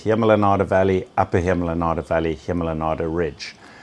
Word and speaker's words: Hemel en Aarde: We worked together under the name Hemel and Aarde. Seems very hard to pronounce. It means heaven and earth. Yeah, in Old Dutch. And so collectively, the whole area we call the Hemel and Aarde, although it's not a legal term.